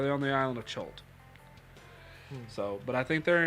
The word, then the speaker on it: Chult: It's not Crit. It's an island where all the Yuan-ti live. But, yeah. Yuan-ti Island. No, it starts with the C. Chult? Chult. Or they're on the island of Chult.